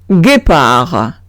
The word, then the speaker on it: guépard: Añado una U para que pueda pronunciar G en vez de J. Exemple, guépard.